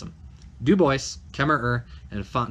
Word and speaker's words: Dubois: pronounce Dubois Kemmerer and fontanel that's how you pronounce him Dubois camera her and it font now alright Kemmerer